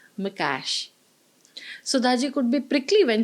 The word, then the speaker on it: Mikes: me written by George mikees Mr Naran morti gently corrected her pronunciation of the Hungarian author's name by telling her it's Mash sudaji could be prickly